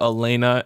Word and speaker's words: Alana: has no audible component, how do you say this character's name? Alana? Okay. Alana, probably. I want to go with Alana. I know that a lot of people call her Elena, and then a lot